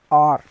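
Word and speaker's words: heure: So to R we will say R, R, H-E-U-R-E, R.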